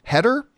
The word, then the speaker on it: Heder: Remember the actor John, I think you pronounce his last name Heder?